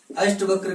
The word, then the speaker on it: अष्टावक्र: अष्टवक्र का उच्चारण जब करते हैं तो क्या होता है? अष्टावक्र।